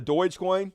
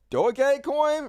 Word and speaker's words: Dogecoin: a lot more sense it's pronounced uh Dogecoin really doggy coin is that really how it's pronounced doggy okay I wasn't even